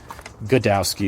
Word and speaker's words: Gaydowski: That's how it's spelled, and of course made fun of as, but Godowski is what we would call him.